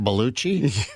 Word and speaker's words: Belushi: sure yes he does that's the Italian pronunciation baluchi yes Sicilian all right